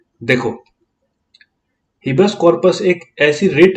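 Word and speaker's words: habeas corpus: जैसे इसको प्रोनाउंस करो, इसको हिबेस कॉर्पस बोलते हैं, ठीक है। हिबेस कॉर्पस स्पेलिंग देख ले एक बार, ठीक है। HABE है, HABE, ठीक है। क्योंकि प्रोनाउंसिएशन कुछ और आती है इसकी और स्पेलिंग कुछ और आती है, तो कंफ्यूज हो जाते हैं इसमें।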